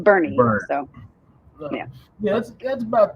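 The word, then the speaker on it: Boerne: It's nor we would pronounce it Bourne. B O U R N E but it's pronounced Bernie.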